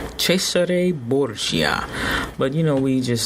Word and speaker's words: Cesare Borgia: said his name is is is technically it's pronounced Cesare Borgia Cesare Borgia but you know we just say Caesar Borgia you know English speaking we you know we